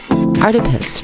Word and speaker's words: Artipoeus: art around the world Artemis pronounced like octopus because art is everywhere this week are the